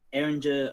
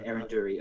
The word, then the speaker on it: Erinduri: The headmaster is Erinder Opalbow. Wait, sorry, Erinduri Opalbow.